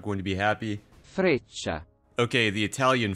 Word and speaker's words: Freccia: Okay, I'm gonna look up how to pronounce this, because if I pronounce it incorrectly, the Italians are not going to be happy. Freccia. Okay, the Italian Freccia.